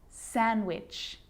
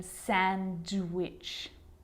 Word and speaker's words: sandwich: silent too Wednesday handsome sandwich so I'm not pronouncing the D in Sandwich I'm just pronouncing the consonant n sound before it try it with me